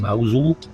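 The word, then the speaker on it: Mousehole: Gonna pop into this charming little place pronounced Mosul.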